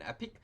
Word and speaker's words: epoch: model is trained and Epoch sometimes you hear it pronounced as an epic it's one pass through